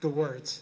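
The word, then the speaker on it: Gewirtz: How do you pronounce it? G-Works. G-Works? Okay, yeah. Thank you. Yeah, it means spice in Yiddish.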